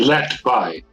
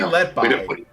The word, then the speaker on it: Letby: I hope I'm pronouncing that right. I think I have a picture here. That is... it's actually Letby. Letby? Lucy Letby. Okay, Lucy Letby.